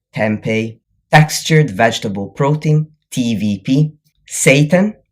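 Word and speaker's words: seitan: textured vegetable protein, TVP, Satan, importantly, not spelled like the the alternative name for Lucifer, but spelled S E I T A N, like the Japanese word Satan and protein powder.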